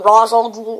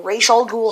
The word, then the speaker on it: Ra's al Ghul: set which is called rescue from Rosal ghoul or Ral ghoul however you pronounce it I say Ros and I'm pretty sure that's the correct term I've seen lots of